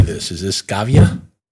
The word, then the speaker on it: Schiava: Is this Scavia? Schiava.